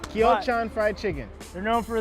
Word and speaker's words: Kyochon: and we're gonna check out this chicken spot kyochon is how you say it exactly we got it I got it like three four times and this you know I got it right now got it right kyochon fried chicken they're known for their fried chicken